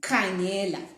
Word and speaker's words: khangela: So in Ndebele, ka is KH. As you can see, the way we write KHANGELA. Without the H, it's ga.